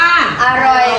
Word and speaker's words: อร่อย: เนี่ย ออ อ่าง นำ คำ แรก อ่าน ว่า อร่อย ครับ อร่อย ตัว อะไร นำ เอ่ย อ เอา อ่าง ครับ ออ อ่าง อ อ่าง นี้ เป็น อักษร กลาง เป็น อักษร กลาง นำ ต่ำ เหมือน กัน คำ ว่า อร่อย